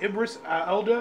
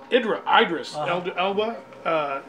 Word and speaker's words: Idris Elba: Ibris Elda? How do you say his name? I hear it's Tom. Idris Elba.